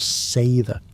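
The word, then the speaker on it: seiðr: Delving into cedar's shadowy embrace pronounced sther, a fusion of sorceries chill spiritual healings, warmth and vengeful runes for unrequited hearts.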